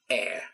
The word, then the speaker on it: air: to make sure that you pronounce that without a h it's not hair no it's a a